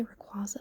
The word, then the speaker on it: Rayquaza: So, the most notable pulls from this session are the promo Rayquaza. I usually say Rayquaza, but I've heard it pronounced Rayquaza, so I kind of alternate the pronunciation to cover the bases.